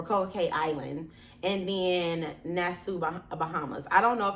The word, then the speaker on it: Nassau: Well, Nassau. See? Nassau.